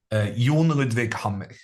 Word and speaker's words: Jon Ludvig Hammer: so I'm not the best person to study in order to get the Norwegian pronunciation right, but I would say in Norwegian, Jon Ludvig Hammer.